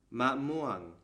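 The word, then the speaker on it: มะม่วง: chart one more time this letter happens to be a low class letter and when we combine that with this tone marker we get a falling tone so now we know that this word should be read ma muang altogether that's kao with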